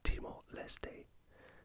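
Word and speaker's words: Timor-Leste: East Timor or as it's now known in Timor lestay in the French pronunciation yeah the capital city of demoleste is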